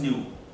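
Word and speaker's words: ν: Third आपका आएगा point यहां पर, frequency of wave, symbol is न्यू, pronounce is न्यू, न्यू, ये सिंबल है फ्रीक्वेंसी के लिए।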